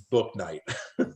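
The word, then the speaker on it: Bouknight: doesn't count it doesn't there is a google there's literally a google video on how to say his name and it literally just says book night it's easier to say than what i was saying so i'm glad you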